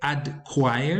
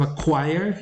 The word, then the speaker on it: acquire: They might say adquire instead of acquire, and that is because in Spanish, instead of this C here, we have a D.